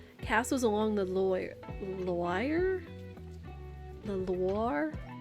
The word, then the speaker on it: Loire: The Loire? I assume it's pronounced like Noir.